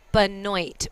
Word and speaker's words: Benoit: if i were to look at that name in french it would be bono but it's casey benoit so i'm saying it uh how phonetically is spelled but um americanize it to benoit so we're gonna we're